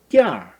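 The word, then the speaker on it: 垫儿: 요것도 보면은 운미 n을 탈락시키고 아의 권설작용을 해서 발음하면 돼. 띠아 이렇게 발음하면 되죠.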